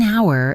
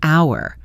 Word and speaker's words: hour: Half an hour is a great example of linking. We don't pronounce the h in hour.